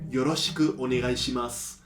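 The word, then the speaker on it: よろしくお願いします: Y esto se dice Yoroshiku onegai shimasu.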